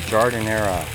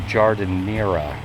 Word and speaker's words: giardiniera: I kept calling it Giardiniera. And although nobody corrected me on it, I think the pronunciation is Giardiniera. Giardiniera.